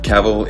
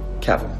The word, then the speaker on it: Cavill: Cavill is pronounced like travel. Travel. Cavill.